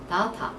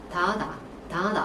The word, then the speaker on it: data: 근데 지금처럼 저처럼 데이터라고 읽어지지 않고 자, 데이터의 다른 발음도 뭐가 있습니까? data. 요번에 요 발음이 나왔었어요. 하지만 이 발음은 굉장히 특징적이기 때문에 연습하면 까먹지 않습니다. 데이터의 두 번째 발음 뭐죠? data. 그죠? 꼭 아셔야 되고 어떤 성우들은 T 사운드를 거의 내지 않아요.